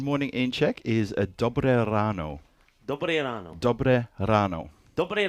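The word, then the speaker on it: dobré ráno: Good morning in Czech is a dobre ráno. Dobre ráno. Dobre ráno. Dobre ráno, everybody. Yeah, so I try to roll my R's as much as possible. If you don't roll your R, it's dobre ráno.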